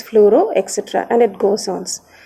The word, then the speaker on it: fluoro: For example, bromine will be pronounced as bromo, chlorine will be pronounced as chloro, cyanide as cyano, fluorine as fluoro, etc.